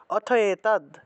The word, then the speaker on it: অথৈতদ: অথই থাকলে অথয়েতদ, অথৈতদ আছে তাহলে অথয়েতদ, এইভাবে উচ্চারণটা হবে।